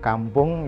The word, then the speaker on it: Kampoeng: Kampung ya kampung. Ejaannya O-I. Itu macam ejaan lama untuk menunjukkan dia style lama atau otentik.